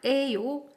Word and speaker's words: 예요: In that case, like we learned, we can put 예요, which is pronounced 에요.